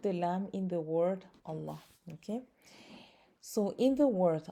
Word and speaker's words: Allah: ma then the lamb in the word allah will be pronounced with a full mouth meaning heavy okay this is another way to describe a heaviness of a letter it's a letter that is pronounced with a full mouth okay so if it is preceded with a letter with a letter with a kasra that has a kasra then the lamb will be pronounced with an empty mouth meaning light okay another word for